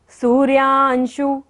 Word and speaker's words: सूर्यांशु: सूर्यांशु सूर्यांशु सू पे बड़े ऊ की मात्रा है इसलिए लंबा लेंगे सू को।